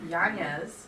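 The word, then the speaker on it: Yáñez: It's Yanez. Yanez. It's hard to say. Well, they didn't put it But I on just my say paper. Yanez.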